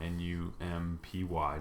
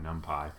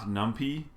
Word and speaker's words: NumPy: short for numerical Python, N-U-M-P-Y, NumPy. It is not NumPy. Nothing will frustrate me faster than you thinking you can mispronounce things just because you don't know how they're pronounced. It is NumPy.